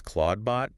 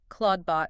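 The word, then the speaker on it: Clawdbot: Steinberger named his bot Claudebot CL A WD, which is pronounced exactly the same.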